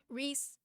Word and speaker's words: Reese's: Reese is a name rhymes with peace.